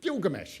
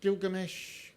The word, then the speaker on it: Gilgamesh: words do i know obviously gilgamesh in which all the g's are hard so maybe iggy is right what if you pronounce gilgamesh with soft g's it